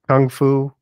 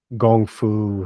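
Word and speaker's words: gongfu: style yeah um and kung fu is how gong Fu has gotten pronounced in in English and I think it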